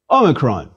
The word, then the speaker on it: omicron: box please repeat c omicron is a small o a micro o which is to say a short o like the o as in ought but a shorter a closed o as in the british pronunciation of pot never as in my own native midwestern american that please repeat omicron